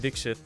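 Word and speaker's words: Dixit: seen for it but yeah it's pronounced dikshit and uh he started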